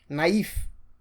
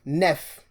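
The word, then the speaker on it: naïve: Another word is naive. naive instead of nef.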